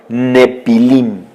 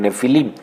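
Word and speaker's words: Nephilim: mujeres humanas a los Nepilim o Nefilim. Se escribe con PH, por eso es que se pronuncia en español Nefilim.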